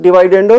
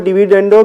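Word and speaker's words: dividendo: इसी तरह डिवाइडेंडो थ्योरम है, कुछ लोग इसको डिविडेंडो भी प्रोनाउंस करते हैं, दोनों तरह ठीक है।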